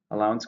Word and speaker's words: allowance: Allowance can be an exception, or it can be money given regularly by a parent. It's a noun. How many syllables? 3, stresses on the second.